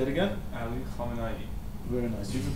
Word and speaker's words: Ali Khamenei: picture next to the missile say it again ali khamenei very nice you can pronounce it right version yes most people butcher